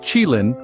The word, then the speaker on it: qilin: Now, the qilin, pronounced qilin, is a fascinating creature from Chinese mythology.